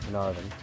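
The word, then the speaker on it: Caernarfon: 30th, we did, Carnarvon, which is not spelled with a V, it's spelled C-A-E-R-N-A-R-F-O-N.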